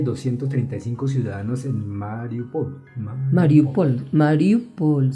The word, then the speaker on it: Mariupol: Mariupol, sí. Ahí está bien, como lo pronunciamos.